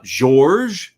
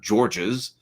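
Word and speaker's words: Georges: So you have the occasional uh gor which is like a French pronunciation not Georgees.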